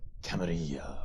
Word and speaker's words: Camarilla: Camarilla.